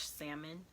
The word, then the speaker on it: Salmon: My last name is Salmon, so it's spelled like the fish salmon, but we pronounce it Salmon.